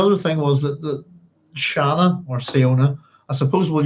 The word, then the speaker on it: Siona: Shall we go with Shana or try and keep it at Siona?